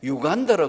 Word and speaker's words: 우간다: 아마 이 당시에는 지금 파피루스, 이번에도 보니까 우간다, 거기는 가니까 우간다라 안 그러고 유간다라 그래요. 그러니까 우리 발음이 참 그런 것 같아요. 아마 비행기에서 내려가 우간다 하면 하나도 외국인은 못 알아듣는 것 같아요. 유간다예요.